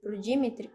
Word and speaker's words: Dimitri: O Aslan deu uma maçã pro Dimitri. Dimitri. Dimitri. É isso aí. Dimitri. Tá bom. A Dimitri. sílaba tônica é no mi.